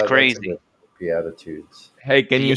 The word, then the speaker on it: Beatitudes: spell it yeah b-e-a-t-i-t-u-d-e-s Beatitudes we add that foods can you use it in a sentence just like attitude with a be on the front so Beatitudes are sayings